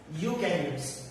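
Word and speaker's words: eukaryotes: एक है प्रोकैरियोट्स और दूसरा है यूकैरियोट्स। प्रोकैरियोट्स एंड यूकैरियोट्स। Okay, यहाँ पे ई जो है वो साइलेंट है।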